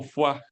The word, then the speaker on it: Foix: Mira, en el caso de la imagen se conoce como maniobra de Fox, o se escribe como Foix, y como es francés se pronuncia como foie.